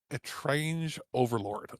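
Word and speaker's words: Étrange Overlord: Not strange, A-Train. Well, a game from Natsume America. All right, so I guess we're going to go to that review first. So, we're going to go to the unpronounceable game. I'm sure Alex will do that right. that The one that tongue twists me every time because it's not strange, it's A-Train.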